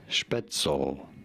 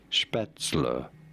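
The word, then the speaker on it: Spätzle: go about pronouncing it some people say it as schpetzel but no it is to be said as spatzler did you get it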